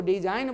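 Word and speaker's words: design: आइए, तो जी और एन दोनों का जब भी मुलाकात हो तो एन से पहले जी को साइलेंट कर देंगे, इसको डिजाइन बोलेंगे।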